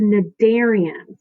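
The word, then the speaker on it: Cnidarians: phylum are called the Nick Darien's you don't pronounce the C it's just the darién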